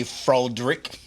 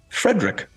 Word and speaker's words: Frederick: Do you also say Froderick? No, Frederick.